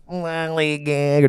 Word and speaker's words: Lollygagger: Lollygagger. That's exactly how you pronounce it.